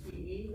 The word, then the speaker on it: Peh: PE or PA? P-A. If you're gonna pronounce it correctly, it's gonna be P-E-H.